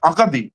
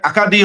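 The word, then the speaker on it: Acadie: তারপর হচ্ছে এ tail of মানে ফরাসিতে আপনাকে বলে আকাদি। আসলে একাদি হবে হচ্ছে ইংরেজি উচ্চারণ।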